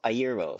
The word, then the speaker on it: Iero: Eero is pronounced Iero. Iero.